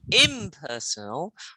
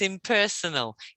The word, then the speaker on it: impersonal: Yes, because it's not impersonal or impersonal, it's impersonal.